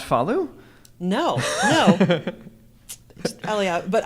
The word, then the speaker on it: Eliav: Eliav, but I've heard it on your podcast pronounced Eliav, but that's not. He puts the emphasis on the first syllable.